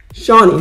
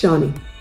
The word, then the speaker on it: Chani: Shani. Her name is pronounced Shani. But it's spelled Chani.